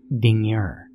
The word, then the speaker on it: Dingir: He said it was an old Sumerian sign called Dingir. She pronounced it like danger, but with two eyes.